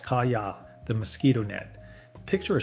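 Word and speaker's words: 蚊帳: This is the kaya, pronounced kaya, the mosquito net.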